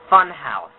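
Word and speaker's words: Funhaus: There's a YouTube channel called um Funhouse. And yeah, I know it's going to it sounds like it's pronounced f u n h a u s e. No, no, no. It takes out the e.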